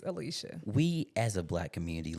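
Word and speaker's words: Alycia: these extra extra letters it's Lee I mean it maybe looks like lie but it's Alicia we as a black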